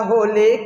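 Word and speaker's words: ح: নুক্তা না হলে হা, নুক্তা না হলে কি? নুক্তা না হলে হা। এই হাটা আগে বাতাস বেরাবে, তারপরে হা শব্দ হবে।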